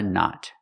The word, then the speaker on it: knot: Remember the K is silent. Tie a knot.